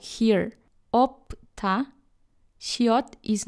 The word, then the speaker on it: 없다: Or one of 2 letters is not pronounced, like here, 없다, 시옷 is not pronounced.